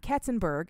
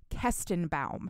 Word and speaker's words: Kestenbaum: Dee Dee and Talia, their last name is not Ketzenberg. It has never been Ketzenberg. I've been saying it wrong the entire time. It's Kestenbaum.